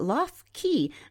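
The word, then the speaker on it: Lough: He says that Lo Key, that's spelled L O U G H in Boille, is one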